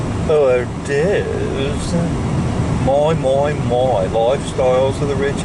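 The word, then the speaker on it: hors d'oeuvres: Well, that's the way it's spelled anyway, horse de ovaries. But I think a lot of people pronounce it hors-d'oeuvres.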